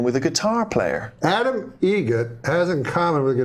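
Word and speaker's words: Eget: Adam Egget. Egget. Spelt differently. Like the bird. That's Egret. Do you know what Adam Egert has in common with a guitar player? Adam Egget has in common with a guitar player?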